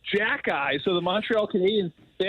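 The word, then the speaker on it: Xhekaj: it starts with an X it's uh it's pronounced Jacky so the Montreal Canadians they actually gave him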